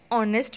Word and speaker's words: honest: तो honest में H letter आ रहा है first में, but H is silent.